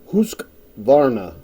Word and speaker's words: Husqvarna: this was this husk husk Vara is how they say it in Sweden um husk a 42